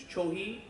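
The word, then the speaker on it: Chōhi: Their F is kind of a mix between an F and an H, so it's Chohi.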